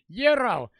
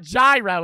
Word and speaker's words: gyro: Fringe bets Cupid for the property bets it's pronounced Euro is that how you say it it's not gyro it's Euro Euro damn I'm saying that [